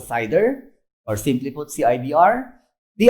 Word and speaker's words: CIDR: so classless inter-domain routing we pronounce a cider or simply put cibr